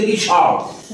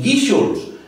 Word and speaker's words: Guíxols: Es natural que nosotros pronunciemos Guíxols, porque ponga lo que ponga el letrero, sabemos que es así. Pero a un forastero que nunca ha oído el nombre y que lo conoce solo de haberlo visto escrito, ¿cómo va a pronunciar Guíxols si en todas partes ve anunciado Guíxols como palabra aguda?